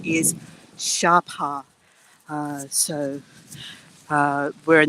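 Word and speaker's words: Sa Pa: in a town called uh we call it SAA it's spelled SAA but I've since learned that the Vietnamese pronunciation is Shara uh so uh we're in the very north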